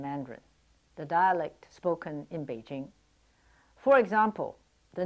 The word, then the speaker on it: Beijing: Beijing is pronounced Peking in Cantonese, but Beijing in Mandarin.